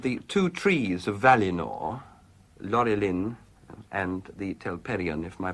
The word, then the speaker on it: Laurelin: You speak of the two trees of Valinor, Laurelin and the Telperion, if my pronunciation is anything like Laurelin, that. Laurelin and Telperion, yes, the golden song and the white silver.